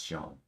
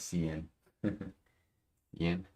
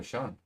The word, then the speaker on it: Sean: a hard time understanding how s e a an is pronounced is pronounced as Sean because for the longest time I thought that was Cen Yen no Sean check if I'm Live